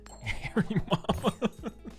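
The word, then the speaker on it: Hariyama: Do you know that Haryama is actually pronounced Harry Mama?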